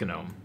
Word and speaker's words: GNOME: It's pronounced GNOME. You're saying it GNOME.